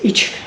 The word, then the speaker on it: Echuca: It's, and you say it like you're having a little sneeze. Echuca.